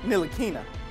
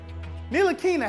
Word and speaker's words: Ntilikina: Number 4, Frank Ntilikina. Why is there a T in his name if you don't pronounce, if it's silent?